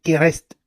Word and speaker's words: KRST: Le terme Christ dérive du mot égyptien K rst, kereste. Ça c'est la prononciation, c'est le mot kereste.